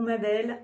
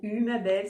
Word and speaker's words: Umabel: un nouveau partage avec l'ange ou ma belle ou hum belle suivant comment vous le prononcez comment à vous ça